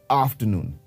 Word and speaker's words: afternoon: the next one afternoon now even here the letter R would be silent so when we pronounce it it sounds like afternoon once again afternoon we